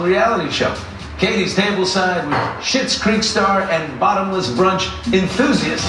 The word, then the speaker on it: Schitt's Creek: It sounds like Schitt's Creek, S-H-I-T, but it's not because it's spelled different.